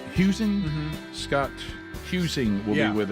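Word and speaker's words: Huesing: Uh we'll be uh chatting uh um today and is it how you say his name? Is it um Huing? Huing.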